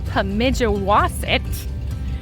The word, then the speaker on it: Pemigewasset: It is pronounced Mount Pemigewasset.